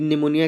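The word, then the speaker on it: pneumonia: ये competitive exam में आता है दोस्तों कि निमोनिया की सही स्पेलिंग क्या है।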